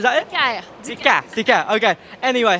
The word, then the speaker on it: Dicaire: I'm delighted to be joined by Marie-Eve Dicaire. Is that how I pronounce it? Just tell me. Well, you're close. Dicaire, can you say that? Say Dicaire, is that it? Dicaire.